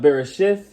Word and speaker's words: Bereshit: In the Hebrew, it will be pronounced Bereshith.